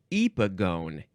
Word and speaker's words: epigone: Okay, next is epigone. No, it's epigone.